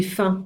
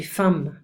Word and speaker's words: faim: Alors attention, j'ai faim. On va pas dire j'ai faim. Non, j'ai faim. On ne prononce pas le M.